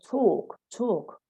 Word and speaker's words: talk: So how to spell talk. So they need to remember that the AL should be pronounced O.